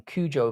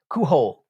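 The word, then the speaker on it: Cujo: I heard he doesn't even remember writing Kujo because of the drug use. Kuho. Kuho. Let's pronounce it properly.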